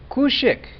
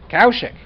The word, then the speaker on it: Kaushik: Kushik. Say it again. Kaushik.